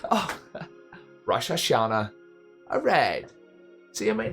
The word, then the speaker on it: Rosh Hashanah: Oh, Rosh Hashanah. Alright. See, I might not have known about it, but at least I pronounced it correctly.